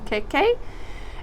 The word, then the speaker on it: mkeka: All right, I had to look that one up to make sure I pronounced it right, an Mkeka.